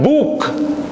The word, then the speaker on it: book: Huruf O dua dalam bahasa Inggris kadang harus dibaca U. Contoh dalam penulisan book, book, buku, dibacanya teh harus U, book.